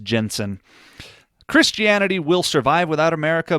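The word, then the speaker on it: Jentezen: Franklin talks about, it's a weird name, but I believe it's pronounced Jensen.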